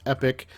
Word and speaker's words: epoch: row this is the epoch weapons pack and before I get messages yes I know in most of the United States it's pronounced epic uh my family is